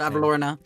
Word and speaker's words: Bavlorna: I always forget how to pronounce it. Bavlorna.